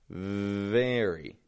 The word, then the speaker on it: very: The other, on the other hand, very, very. My bottom lip is just lightly touching my top teeth.